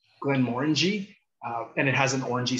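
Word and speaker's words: Glenmorangie: And just because this is a bugaboo of mine, it's not Glen Morangi we get a lot, or I don't even know how else you've heard it. You literally have the word orange in it, Glen Morangi, and it has an orangey sort of profile.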